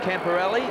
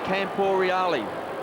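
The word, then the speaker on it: Camporeale: uh we've been told we shouldn't say camper Ali his name is Campo rali that's the right way to pronounce his name I just can't get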